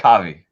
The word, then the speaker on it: Kavi: Is it pronounced Kavi or Have? Yeah. Kavi.